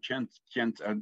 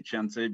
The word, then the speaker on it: Khyentse: Now, I always say Khyentse because Chagdad Rinpoche pronounced it Khyentse because he was from Kham. So that's an Eastern Tibetan accent of Khyentse. Most people say Khyentse. Or most don't, maybe. I don't know. Anyway, there's also the pronunciation Khyentse. I think that's Central Tibetan, I think, is Khyentse.